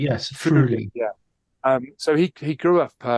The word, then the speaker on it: Friuli: You might have to help me with the pronunciation here, but Friuli, is that? Friuli, yes, Friuli.